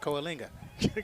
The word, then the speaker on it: Coalinga: Beat AO is 35 to 18 cisus beat Coalinga 29-21 Kinga Coalinga that's what I said Coalinga yeah I know it's Kinga Harris runs